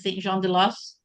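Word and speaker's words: Saint-Jean-de-Losne: And it's going from Dijon, which we now know better as Saint Jean de Los or de Lone, as some were telling me that it's pronounced.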